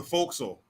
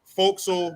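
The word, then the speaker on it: forecastle: there and like uh folk soul but it's spelled for castle then boats and mate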